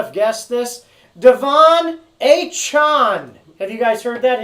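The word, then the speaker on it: Achane: could we all not have guessed this Devon a Chon have you guys heard that his name is actually pronounced hey Chan all right I mean how much cooler is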